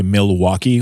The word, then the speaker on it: Milwaukee: the t's mittens mittens also say Milwaukee with a mil where I sound at every every syllable it's just you know